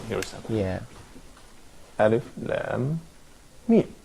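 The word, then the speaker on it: لام: Because here, the alphabet lam is written, and it's not pronounced la. It's pronounced as Yeah. lam, Yeah.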